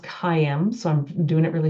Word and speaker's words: Caim: they think it's word calm it actually is pronounced cim so I'm doing it really slowly it's actually